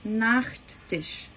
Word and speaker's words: Nachttisch: Cuidado na relação da pronúncia. Nós temos um pequeno detalhe. Então eu vou dizer der Nachttisch.